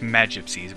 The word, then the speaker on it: magypsies: time h magypsies Huh I've heard it pronounced magypsies but I like it magypsy I don't know I'm